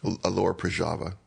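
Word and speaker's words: Lower Proszawa: city, whose name I can't pronounce. Alora Prajava.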